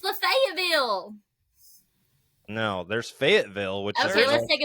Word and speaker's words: Fayetteville: If you're from Tennessee, true Tennessee, it's Fayetteville. I'm going to Fayetteville, not Lafayette.